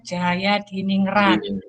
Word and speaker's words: Djajadiningrat: djajadiningrat Pah Mbak itu ejaan lama by itu bacanya Jaya berkurangnya face art design jayadiningrat nyucinya karena Ini kebanyakan